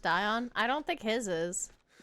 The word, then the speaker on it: Dion: His radiance requests that your highness maintain position here and it's pronounced Dion. I don't think his is. Yeah, it is Dion.